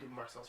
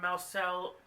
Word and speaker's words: Marcel: fact that he's just, I don't know, I'm Marcel's fan, so. Yeah, I think the only reason why I'm on Marcel, whoa, I said his name wrong, Marcel, is